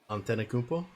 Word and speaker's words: Antetokounmpo: How do you pronounce Giannis's last name? Antetokounmpo.